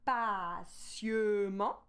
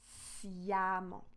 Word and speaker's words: patiemment: On ne va pas dire patiemment, on va dire patiemment, patiemment. It's the same thing that happened in the word femme.